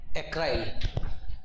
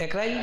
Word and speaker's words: acryl: एसाइल नहीं, एक शब्द है ACRYL, एक्राइल, ACRYL, एक्राइल। सही प्रोनाउंस कर रहा हूं? एक्राइल, ठीक।